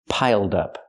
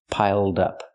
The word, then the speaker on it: piled up: Piled up. Pronounce it like one word. Not piled up, but piled up. Connect the d with the next word.